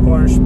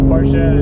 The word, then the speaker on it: Porsche: I like saying Porsche, but Porsche is the way it's supposed to be pronounced apparently.